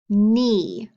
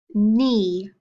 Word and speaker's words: knee: first position okay so if i say knife knee knock now try to echoing back with me ready knife knee knock what did you hear at the beginning of those words that's right we heard the m sound look at these words and tell me what letters you think make that sound look knife knee knock there are two letters that make that m sound that k and the